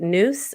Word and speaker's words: nous: Before we get into that, I wanted to talk about a little bit of the concept of the news. Now tell me how to say it. Noose or new?